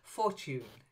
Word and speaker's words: Fortune: your pronunciation was fine but the stress was a bit off Fortune not Fortune but Fortune Fortune Fortune that's it good good